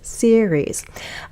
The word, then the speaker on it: series: new series oops series we also want to get that one SE SE right that has two syllables series I started to watch